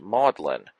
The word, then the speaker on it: Magdalene: and the United States in England the word is pronounced Maudlin once Maudlin adjective unpleasantly